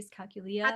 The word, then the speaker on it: dyscalculia: I Dyscalculia. thought it was Yeah, dysgraphia or dyscalculia. I mean, it's dyscalculia. when you have issues Yes, with numbers. dyscalculia.